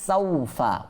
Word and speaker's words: سوف: كلا سوف تعلمون كلا سوف تعلمون كلا লা এটা কি করব আমরা এক আলিফ টানবো, সাউফা ওয়াও সাকিন পূর্বে জবর আসছে, অর্থাৎ এখানে লিন হওয়ার কারণে টানবো না, কাল্লা সাউফা।